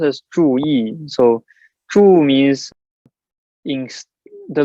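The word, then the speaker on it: 注意: just means pay attention right so true it's pronounced as true e so true means in the literal translation is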